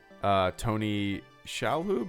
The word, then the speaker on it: Shalhoub: this Paulie the talking parrot Oh as the Tony Shalhoub is how you say it as Cheech Marin